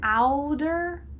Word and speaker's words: outer: Outer order. Outer order. Notice the first word has a T, but we've changed it to be a D sound.